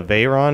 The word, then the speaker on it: Veyron: I believe this is a Veyron is how it's pronounced.